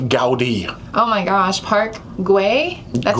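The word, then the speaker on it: Güell: Park Guay, that's how you say it.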